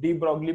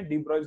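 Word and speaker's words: de Broglie: डी ब्रॉयस equation या फिर डी ब्रॉगली बोलते हैं कोई कोई, डी ब्रॉयस का प्रोनाउंसिएशन है डी ब्रॉयस इक्वेशन, ठीक है।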